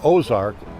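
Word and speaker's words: Aux Arc: walks of life the boat is called ozark and but it's not spelled like we spelled today the original spelling of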